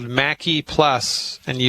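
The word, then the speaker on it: Maqui: Mackie plus and you it's a funny word you spell it m a like apple Q like Queen I M A Q UI I left out the U M A Q UI Mackie plus it's a liquid I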